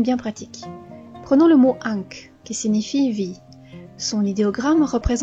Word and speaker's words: Ankh: À elle seule, elle se prononce Ankh, mais elle est la plupart du temps écrite avec les phonogrammes N et Kr pour aider à sa lecture.